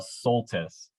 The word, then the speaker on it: Soltisz: My last name is Soltis.